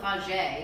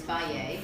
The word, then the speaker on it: Fage: I think it's pronounced Bai. See, no one even knows. Yeah, but I still call it Fage, and I just read on the container it's Faye.